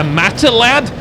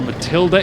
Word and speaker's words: Matilda: We do have a Matilad, or Matilda, if you pronounce it correctly, supporting a whole load